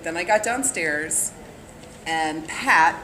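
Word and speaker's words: Patte: But then I got downstairs, and Pat, P-A-T-T-E with a silent E, was down here and started telling me about it.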